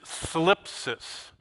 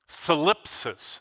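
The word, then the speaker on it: θλῖψις: The main Greek word for this is thlipsis. How do you like that? That is a diphthong pronunciation that's difficult in English. T-H-L, thlipsis. It sounds like, something's wrong there.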